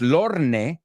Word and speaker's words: Lorne: Es Lorne, pero no se pronuncia la E.